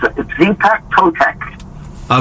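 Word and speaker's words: Xipe Totec: And then the next one, I'm going to try to pronounce this best I can. Track 6, Zype Totek. Yeah, it's Zepek Totek.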